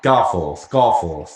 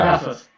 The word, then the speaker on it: Garforth: Say F-O-R-T-H, the word. Say that. Go on. What was that, sorry? Say the word F-O-R-T-H. The word. The word that's spelled F-O-R-T-H. No. Say the word F-O-R-T-H as a word. Go on. Fourth. See? Now say G-A-R. G-A-R. As a word, Dick. Gar. Right, Garforth. There you go.